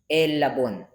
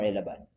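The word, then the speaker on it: ἔλαβον: Hupo i udai on pentakis tessara konta para mian elabon. Is it elabon or elaban? Elabon.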